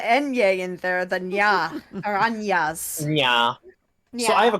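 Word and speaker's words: araña: Aranya?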